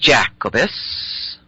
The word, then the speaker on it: Jacobus: The Union flag is called Union Jack because it is named after James I of Great Britain, whose name in Latin is Jacobus, pronounced Jacobus.